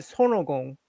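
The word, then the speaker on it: 손오공: son by the way Koreans in Korea we call it sonogong how you guys pronounce itong sonogong yes we we are very distinct son, three syllables.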